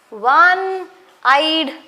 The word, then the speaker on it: one-eyed: O is a vowel, but we pronounce it as wa, one-eyed man. That is W sound, okay? W sound. Since it is W sound and W is a consonant, we use it as a one-eyed man. Understood? A one-eyed man. Though it is vowel, we pronounce as W sound. Okay, W sound, W sound.